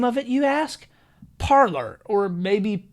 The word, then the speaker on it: Parler: it what's the name of it you ask parlor or maybe parlay i'm going to call it parlor but i have heard it pronounced both ways so it's gained a ton